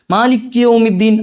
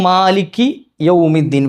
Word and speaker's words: مَالِكِ يَوْمِ الدِّينِ: ചെയ്യാ ഒന്ന് മിങ്കിൾ ചെയ്തിട്ട് മാലിക് യൗമിദ്ദീൻ അത് പറ്റൂല്ല മാലിക്കിയ മാലിക്കിയ അല്ല എന്താണ് മാലിക്കി യൗമ് എന്നാണ് അപ്പോ മാലിക്കി യൗമിദ്ദീൻ വേറെയാണ് യ വരണം യ എവിടാ